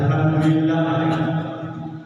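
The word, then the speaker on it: الحمد لله: Makanya kalau kita dengar ada alhamdulillah ya, yang benar alham, hak kecil. Ya, dia di Hamdu. ya, alhamdulillah. Beda yang kor itu dari tenggorokan.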